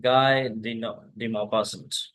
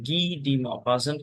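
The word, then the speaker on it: Guy de Maupassant: ये French name है और फ्रेंच नेम में अगर फ्रेंच में इसे प्रोनाउंस करेंगे तो गी डी मॉपासेंट के तरीके से प्रोनाउंस करेंगे, गाय नहीं पढ़ेंगे। इंग्लिश प्रोनाउंस करेंगे तो गाय ही पढ़ेंगे इसे।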